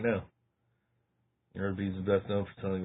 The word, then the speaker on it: Arby's: Instead, they chose the name Arby's, a phonetic pronunciation of the letters R and B, short for Raffle Brothers.